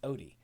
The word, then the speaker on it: Odie: It's Odie. He messaged me to say that. I was like, oh God, what did I say? And I pronounced it like it sound or like it's spelled. That's not right.